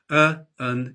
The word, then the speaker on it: an: Like many common words, a and an have a strong and a weak pronunciation. An is the strong pronunciation. Un is the weak pronunciation.